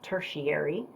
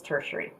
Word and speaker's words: tertiary: Now, when I studied color theory in college, my teacher pronounced it tertiary, but I Googled it last night, and the proper way to say it, I don't even remember her name. It's been a long time. It's tertiary. Anyway, so from these colors